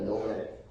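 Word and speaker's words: Dōgen: Okay, and then this is the venerable Dogen. How do you say that in English? I'm not sure. Is Dogen or Dogen? Is someone teaching me, please? If I pronounce it wrong, please forgive me.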